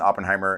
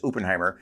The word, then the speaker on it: Oppenheimer: just an Oppenheimer and which is some people uh falsely pronounce Oppenheimer which you know it's like it's it's you don't say you don't say I popped my pants you say I poop my pants so it's for me